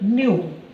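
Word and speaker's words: ν: So frequency symbol is nothing but the somewhat we are writing in the form of V letter, but exactly we have to be pronounced by using the meaning is nothing but nu.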